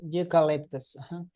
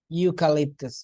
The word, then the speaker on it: eucalyptus: say a before consonants U is a consonant sound U eucalyptus it's not the letter it's an e but we say youu you like a universe